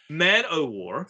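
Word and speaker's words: Man-o'-War: man of war uh war not of war yeah don't mispronounce mana war on this podcast like that's man-o-war oh that was um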